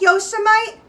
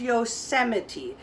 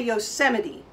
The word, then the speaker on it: Yosemite: everybody say the word yosemite it looks like yosemite but the way we pronounce it is yosemite everybody say yosemite that is a famous famous national park up